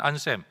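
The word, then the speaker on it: Anselm: 대해 11세기 스콜라 철학자였던 안샘 또는 안셀룸이라고 발음하는 이분은 메시아가 무한한 속전을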